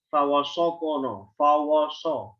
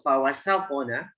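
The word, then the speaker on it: فَوَسَطْنَ: Fa, waw, sin, nun tipis. Ya, jadi dijaga ketipisan. Jangan bacanya fawasokono, Fawasopona. Sin, kalau kita nggak jaga ketipisannya, bisa mengarah kepada huruf sod.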